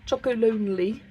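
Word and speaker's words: Chocolonely: I always struggle to say that chocolate brand. Choco Lonely. It's not that hard. Chocoloni sea salt caramel chocolate with me.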